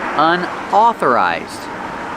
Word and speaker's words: unauthorized: Pronunciation, unauthorized. AU makes the aw sound, like ball and call.